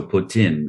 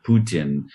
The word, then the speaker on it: poutine: So, it's not po, it's poo. And you drop the e on the end. So, putin or putin.